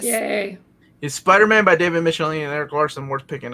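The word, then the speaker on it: Michelinie: It's a follow-up to the David Michelini, sorry. Eric Larson taught me how to pronounce his name. Michelini, Todd McFarlane omnibus.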